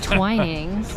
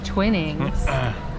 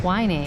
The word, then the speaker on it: Twinings: Well, I learned that how to say the T the right way. Twinings. I thought it was Twinnings. It's Twinings. Twinings.